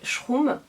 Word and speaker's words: Shroom: Il s'appelle Schroom. Oui, Schroom. Je ne saurais pas trop comment le dire autrement. Oui, ça s'écrit. Ouais, ça se dit Schroom, hein.